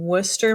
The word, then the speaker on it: Worcester: After that, we've got a gal by the name of Esther Howland in Worcester, Massachusetts. I'm fairly certain that's how to pronounce it because my guy is from there.